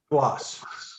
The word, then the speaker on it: Skloss: looks like ex-parte stewart is it skull loss or how do you pronounce that squash squash squash yes ex parte stuart skloss